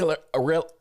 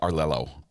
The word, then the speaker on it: Arleo: Courtney Arleo. I always say your name wrong, Courtney. I say Arlelo, but there's only one L in it.